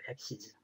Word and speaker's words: axes: 엑시즈.